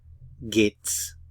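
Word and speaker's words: geht's: it Vates vgate s we often contract the gate and the S to gates gates so the question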